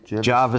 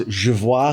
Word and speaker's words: Javois: tell us about this not to be mistaken with javois Street Java Street it is javois Street yeah you have a very nice little Accent on the ois there 24.